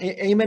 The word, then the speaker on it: Amen: wonderful uh ted talk daniel amen is spelled a-m-e-n like amen you are on mute lori